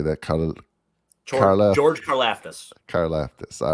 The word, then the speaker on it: Karlaftis: And I mean, and they, on defensive side of ball, they drafted, I always say this guy's name wrong, George, how do you say that? George Karlaftis. Karlaftis, all right.